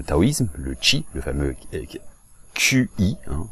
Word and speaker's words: qi: Alors, ça existe dans le taoïsme, le qi, le fameux QI, hein, ça se prononce en chinois qi, d'ailleurs, qi ça veut